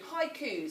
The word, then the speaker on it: haiku: So this week we will be extending our learning of poetry to include haikus, and that's how you say it, haiku.